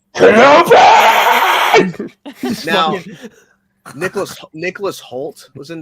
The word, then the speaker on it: Kenobi: Kenobi. No, you said it wrong. It's Kenobi!